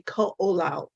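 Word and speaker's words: Koʻolau: your book name i've heard it always it's ko lao the the oahu it's on oahu and they call um the pronunciation would be ko olao okay called secret right so it's based in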